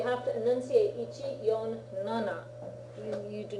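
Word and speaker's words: なな: And for 7, you say nana for the same reason, because shi and shichi could also be easily confused, right? Okay? So you have to enunciate ichi, yon, nana.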